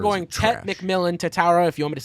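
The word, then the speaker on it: Tetairoa: McMillan Tatara, if you want me to say it properly, out of Arizona, wide receiver.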